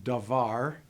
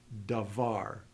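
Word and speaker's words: דָּבָר: So in the example davar, we don't bother noting where the accent lies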